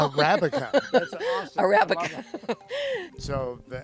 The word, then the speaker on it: Arabica: I must have been I think I'm saying araba oh I don't recognize that you're saying that wrong Arabica that's awesome Arabica so